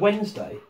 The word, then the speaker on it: Wednesday: It's like the word Wednesday. Yeah, Wednesday. Yeah. Half of that word is wrong.